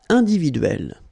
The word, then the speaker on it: individuelle: So remember when you get this and then double consonant, and especially here it's the same one, that's the idea. It will open the sound of so you will pronounce it like é.